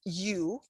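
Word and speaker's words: ю: to russian language you the first letter is you it's pronounced like you in universe pronounce much like the english word you yeah pronounced like the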